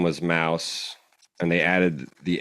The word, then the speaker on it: Mauss: him we had been pronouncing his name in the Deutsch manner instead of in the in the French manner so Mouse mous it was josco